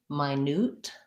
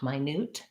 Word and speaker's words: minute: so my newt has second syllable stress and it has a clear oo for this letter u so minute um take a minute to think about it my newt the difference between those two pronunciations is not my newt it's actually quite um quite big um that's a great